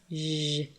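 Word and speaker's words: ژ: and it is pronounced Je like the last sound in English word garage or the second sound in the word usually this letter in all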